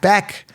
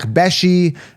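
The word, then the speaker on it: Bech: I'm excited about this one, is Jack Besh, Jack Beck, Jack Beshy, whatever, right? I think it's Jack Besh is how they pronounce it, right?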